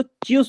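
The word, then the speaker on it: tschüss: तो इसको चस बोल हेलो कोई डाउट? ठीक है इसको बोलिए इसको चूस बोलना है हां हां बोलो बोलो चूस हां चूस चूस ठीक है ना चूस नहीं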